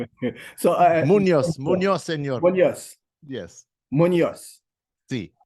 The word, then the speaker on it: Munoz: I like that Munzo. I like Munzo. All right. So Munzo. Munoz.